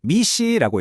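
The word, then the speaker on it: MECE: 그 원칙이 바로 MEC 미c라고 읽는데요.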